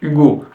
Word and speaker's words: Hugo: hein en français on a la lettre H Hugo en russe euh la lettre H sur les noms français se prononce donc si vous vous appelez si vous